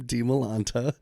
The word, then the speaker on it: Dimalanta: expound upon this that like usually in orientation I always say okay this is how you pronounce my name de Milanta you got to know how to pronounce it